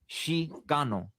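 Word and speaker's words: Xicano: Chico is spelled X I C A N O. Shano, not C H.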